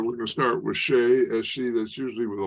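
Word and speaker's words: Ṣe: All right, so the line under the SE means it's that letter followed by an H. So instead of C, it's she.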